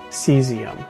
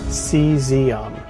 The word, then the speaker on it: caesium: Seesium. Yeah, you heard me right. Not calcium, but cesium. It's pronounced cesium.